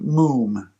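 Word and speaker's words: מום: The word that is used here for defect is the Hebrew word mum. We would spell it M-O-O-M.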